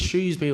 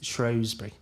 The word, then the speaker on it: Shrewsbury: There's Shrewsbury or there's Shrowsbury.